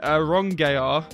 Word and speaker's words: Aronggear: This one was submitted by the Adam Aronggear, and he said to pronounce it Aronggear, but I'm not going to. Adam Aronggear.